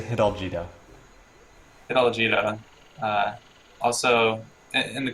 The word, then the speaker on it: Hidalgito: In the color red, playing Spain, and then are you pronouncing this Hidalgito? Is that right? Yeah, I say Hidalgito.